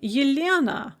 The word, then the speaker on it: Ilyana: starts with a ya or my name ilyana it starts with a yeah or the name yana